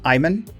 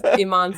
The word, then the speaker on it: Iman: coming up fast folks is the pronunciation of your last name Iman it is yep that's right okay not like David Bowie's wife right now Iman that's much fancier but